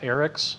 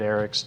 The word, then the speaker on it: Aeryxz: While AE Boards and their owner, whose name is I believe pronounced Aryx, it's AERYXZ, has some interesting connections